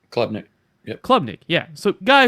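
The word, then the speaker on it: Klubnik: Clubnick. Clubnick.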